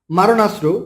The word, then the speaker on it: মারণাস্ত্র: সো শুদ্ধ বানান হবে মারণাস্ত্র, কিন্তু এর উচ্চারণ হবে মরণাস্ত্র।